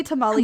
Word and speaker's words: tamale: ] dare I say tamali the I say it the Americanized way instead of the um like Spanish or like Mexican way instead of like tamales